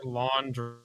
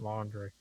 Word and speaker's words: Laundrie: It's Laundrie. Laundrie. I think you pronounce it laundry.